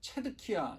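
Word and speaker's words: Zedekiah: 왕인 시드기야 가 있습니다 한국말로는 이제 시드기야 라고 했는데요 사실 영어 발음으로는 체득 이야 입니다 그 이름의 뜻이 의롭다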